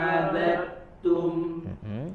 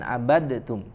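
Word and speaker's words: عَبَدْتُمْ: wala ana abidum ma abattum. Jadi jangan abadtum ya, langsung ke abadtum, dileburkan ke huruf ta.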